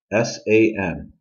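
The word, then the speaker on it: 三: do you remember them s-a-n San and that's how you say it okay let's go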